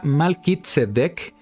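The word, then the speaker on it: מלכי־צדק: dar una idea al respecto en hebreo se pronuncia malkit sedec y la Biblia registra que era sacerdote de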